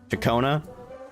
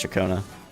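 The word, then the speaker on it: Ciaccona: Chakona. It's Chona.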